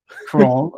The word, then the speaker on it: Crowell: Crowell.